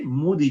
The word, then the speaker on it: Moody: three seven five and using the Moody okay Moody chart that's how it's pronounced okay I for the last 45 years